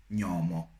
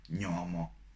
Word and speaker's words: gnomo: For example, when you have GN, it is pronounced as ny, ny. Like, for example, in a word gnomo, gnomo, which means gnome.